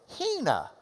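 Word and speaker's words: ἵνα: This has got a reverse comma in front, like an open mouth that goes, because it's the H sound. All right? So you would pronounce this, Hina. And you'll see Hina, Hina, Hina.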